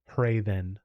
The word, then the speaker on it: Hrathen: It's Raven with a Like very subtle H sound at the beginning. So Raven. Hrathen.